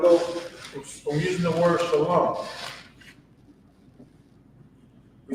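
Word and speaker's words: שָׁלוֹם: But this is Shalom. Notice that it's not Shalama, because in ancient Hebrew,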